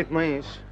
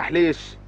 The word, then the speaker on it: حليش: أنا ما اسمي عطنيش، أنا حليش. أنا اسمي حليش على سن ورمح، وإذا ما بتعرفني اسأل عني بالمينا الكل بيقلو لك.